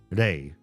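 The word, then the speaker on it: 零: In Japanese, the the kanji pronunciation of the word zero is re r e i re.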